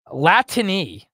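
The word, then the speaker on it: Latine: directly into your veins uh latiny I think that's how it's pronounced it's Latin with an e on the end instead of an x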